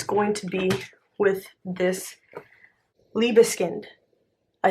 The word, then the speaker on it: Liebeskind: It's going to be with this Liebeskind. I said it right. Liebeskind.